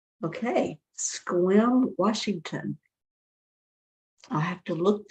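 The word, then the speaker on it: Sequim: pronounced like Squim. Okay, Squim, Washington.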